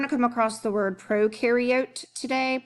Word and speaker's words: prokaryote: come across the word prokaryote today pro rhymes with no it means before these